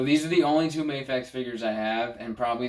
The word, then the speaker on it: Mafex: Mafex or Mafex? Do you know how to say it? No one knows. Okay, it's Mafex, Dark Knight Returns Superman,